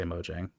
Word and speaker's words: Mojang: I sometimes say Mojang and sometimes I say Mojang. Hard J, so Mojang.